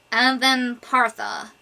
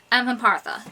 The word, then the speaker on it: Avempartha: Avempartha. Avempartha.